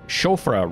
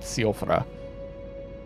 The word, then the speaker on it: Siofra: that we saw in Shofra River, which I've learned that's how it's pronounced, not Siofra.